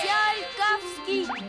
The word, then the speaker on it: Tsiolkovski: Ça se dit Tsiolkovsky.